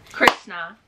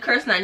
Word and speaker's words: KR$NA: krista krishna krishna yeah last time i said kirsten you guys came with me in the comment section and you were like no it's actually pronounced like curse now i think one of you said it's actually pronounced like krishna and i was like